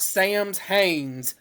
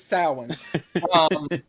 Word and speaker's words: Samhain: and I'm like, it is not Samhain. This is not Sam's Haines. This is Samhain. And I think it's mainly because it's a Celt word.